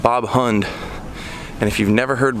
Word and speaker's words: Bob Hund: this Swedish band called Bob Hund. And if you've never heard Bob Hund, look it up. It's spelled exactly how it sounds.